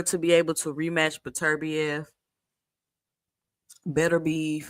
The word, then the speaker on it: Beterbiev: So apparently, Bivol decides to drop the belt in order to be able to rematch Beterbiev.